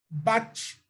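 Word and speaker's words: בת: Então, você tem o bate, a pronúncia é bate e a transliteração é filha, tá bom?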